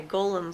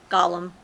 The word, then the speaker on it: Gollum: she was attacked my golem form Lord of the Rings. Oh, I understand what you mean. Okay. Gollum, not Golem. Although they're very similar. Spelled the same, pronounced a little bit different.